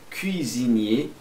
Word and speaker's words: cuisinier: Cui. Você pode jogar um ar mesmo. Cui, cuisinier.